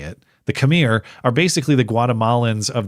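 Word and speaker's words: Khmer: So it's not it's not pronounced kami. It's pronounced kamir.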